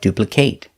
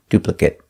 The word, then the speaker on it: duplicate: If it's a verb, pronounce it with the long a, like duplicate. If it's not a verb, pronounce it with the short sound, duplicate.